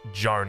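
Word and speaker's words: Jeanne: a while to remember that that's pronounced Joan and not Gene because it looks like a genie to me uh at level two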